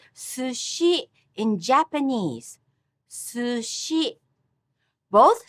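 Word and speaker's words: 寿司: Listen how I say sushi in Japanese. Sushi. Both syllables have the same length and strength. The only difference is su is pronounced with low accent and shi with high pitch. Sushi.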